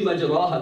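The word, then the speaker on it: مجراها: tajweed, this Bismillahi Majra, it should be Majraha, but we don't say it like that. We say it with the light ra in that place to go with the meaning.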